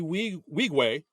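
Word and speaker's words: Nwigwe: song Sanctified with uh Toby we wegue uh who that's how we say okay yeah I looked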